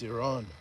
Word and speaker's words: Iran: Oh, that's a play on Iran, but it's it's Iran is the the way we pronounce it.